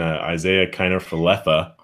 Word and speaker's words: Isaiah Kiner-Falefa: Rangers, we might as well just throw in Isaiah Kiner-Falefa. That's how you pronounce it. Good to know. I've always wondered that. I would call him Falefa. Isaiah Kiner-Falefa.